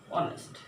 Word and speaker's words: honest: x silent ace like honest forest is a word begins with ace a consonant but ace is not pronounced in this word honest not honest the word is honest so we shall use